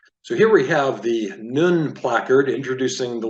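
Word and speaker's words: נון: So if you read with me down here, Nun is pronounced like the N in nature.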